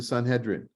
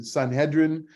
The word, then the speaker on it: Sanhedrin: the Greek is the sun hedrin the sun hedrin soon hedrin means the the ones who have come together to Jud to judge Sanhedrin as it's pronounced in in Hebrew and Aramaic um it's a it's